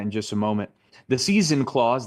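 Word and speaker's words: seisin: just a moment the season Clause that's how you pronounce it like the Four Seasons in AED specifies what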